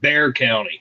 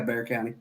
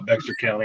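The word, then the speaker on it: Bexar County: San Antonio it's in it's pronounced Bear County yeah Bear County but you know the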